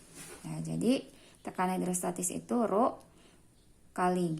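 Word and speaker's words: ρ: Sama dengan, ini dibacanya Rho.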